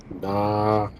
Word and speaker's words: Na: It tells you how to pronounce Na, fam. Nah.